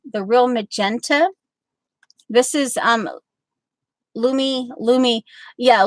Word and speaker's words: Lumi: This is Lumi. Yeah, Lou. I remember when Rachel tried to get me to pronounce this correctly, and I was like, and she said like Lou, like the toilet, like the Lou, and anyway.